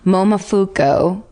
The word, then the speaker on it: Momofuku: Momofuku.